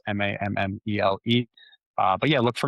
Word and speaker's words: Mammele: I know last name is tricky to pronounce. So that might be good learnings for everybody here too. Mamaly like family. I always say it's mme.